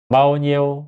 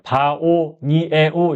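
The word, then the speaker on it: bao nhiêu: 발음은 마오니 에우 이거예요. 마오니오. 마오니오 이거거든요. 마오니오. 이것도 발음할 때야. 바오 니에오 이거는 아니거든요. 바오가 하나예요. 니에오가 하나예요. 그래서 마오니오 마오니오 이렇게 하면 얼마예요?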